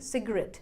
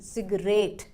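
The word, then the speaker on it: cigarette: से पहले लगाया है, मतलब स्ट्रेस देना है हमें लास्ट वाले पार्ट पर, मतलब RET पर। तो सही प्रोनाउंसिएशन बन गई सिगरेट, ना कि सिगरेट।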